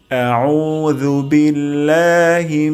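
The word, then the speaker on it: আউযুবিল্লাহি: সম্পূর্ণ ভুল হবে তাহলে আমরা উচ্চারণ করব জিহ্বার আগা সামনের দাঁতের আগা থেকে আউজু এমনটি হবে না আউজু এটি ভুল উচ্চারণটি হবে আউজু তারপর শব্দটি হলো বিল্লাহি বিল্লাহি আউজুবিল্লাহি মিনাশ শাই মিনাশ শাই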